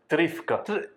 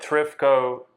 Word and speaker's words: Trifko: Trifka. But Trifko is the Americanized.